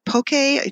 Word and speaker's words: poke: to pronounce us poke poke a with the P oke it's a raw fish salad from Hawaii and shuck suka which is